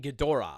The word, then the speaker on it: Ghidorah: So think King Ghidorah from Godzilla. Wait, is that how you say it? Ghidorah. King Ghidorah.